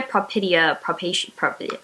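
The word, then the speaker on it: Propitia: Oh my god, I cannot pronounce these. Urania propidia, It's Propidia.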